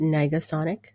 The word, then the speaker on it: Negasonic: how do you say that word is it Nega Sonic you got it teenage Warhead bored in school